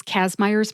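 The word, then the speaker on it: Kazmaier's: Kazmeyers is spelled Kazmaiers, Kazmeyers.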